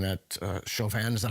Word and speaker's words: Chauvin: So Ben Shapiro just recently came out saying that Chauvin, is that how you pronounce his name? Yes, Derek Chauvin.